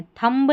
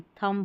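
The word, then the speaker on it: thumb: इसको थंब पढ़ना है। थंब नहीं थंब पढ़ेंगे और यहां बॉम्ब नहीं बॉम्ब पढ़ेंगे।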